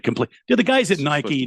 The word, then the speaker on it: Nike: did anything with Nike that's just how that's pronounced Nike the is it the the the Greek or Roman got of of Victory you know but yeah